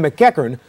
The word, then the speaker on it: MacEachern: did a great job a Scottish name very good um going